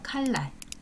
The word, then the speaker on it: 칼날: 있나 칼날 칼 날이잖아요 근데 이것이 발음이 될 때는 칼의 니은이 리을로 바뀌어서 칼날 이렇게 발음이 됩니다 그다음에 두 번째 아 달림이